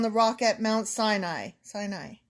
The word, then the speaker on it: Sinai: Sinai. See, I said it right that time.